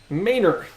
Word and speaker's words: Manor: Guadalupe is pronounced guadaloop and the road that is spelled Manor is pronounced mayor that's probably the the